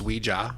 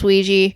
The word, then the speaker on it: Ouija: made them uh just combined the word the French word yes and the German word yes to create Ouija all right fun fact